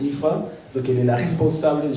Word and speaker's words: Aofi: Son nom s'inscrit AOFI, mais on prononce Ifa.